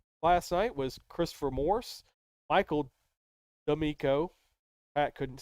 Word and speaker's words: Michael: But anyways, top 3 for that last night was Christopher Morse, Michael D'Amico.